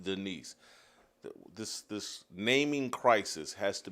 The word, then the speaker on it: Daniss: Yeah, I saw the spelling, but it's pronounced Denise.